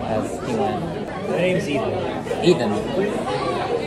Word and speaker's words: Ethan: My name's Ethan. Ethan. Like T-H? Yeah, T-H. Uh-huh. Wait, well, what's the other way? Maybe just P. I don't know. That's how my parents say my name.